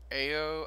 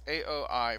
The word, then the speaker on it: Aoi: meet a girl named ayo i forgot how to pronounce her name it's aoi for those who are interested and she believes her